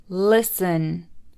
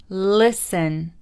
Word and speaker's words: listen: silent t christmas christmas fasten fasten hustle hustle listen listen match match mortgage mortgage nestle nestle often often